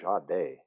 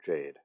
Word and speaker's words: Jade: don't know the commentators kept calling her ja day i mean she is french canadian but like her own corner was calling her jade like because i was like dave i've been saying her name wrong because i like i